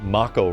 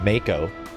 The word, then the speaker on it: Mako: thought it was mako everyone was saying you're pronouncing makko wrong it's mako and look what happened